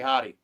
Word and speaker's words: Jotty: She calls Jotty Hottie. This is Hottie. So in Spanish, the J is pronounced with an H sound. So I call her Hottie.